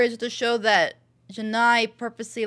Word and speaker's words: Janai: doing here Janai okay so it is Janai I was worried I got her name wrong yet I promise you